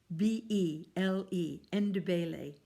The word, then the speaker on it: Ndebele: That's spelled Ndbele, Ndebele.